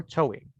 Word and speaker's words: towing: for tying up or towing. Okay. Have this pronunciation. towing, Towing. La W no va tan fuerte.